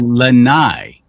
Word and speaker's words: Lani: So, Lani, l a n i, should be Lanai. Cuz the most of the vowels are always the the long long vowels.